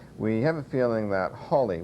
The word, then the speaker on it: Halley: people pronounce it as haly uh there's Holly and H uh three different names we have a feeling that Holly was probably how Sir Edmund would have pronounced his surname but it's important to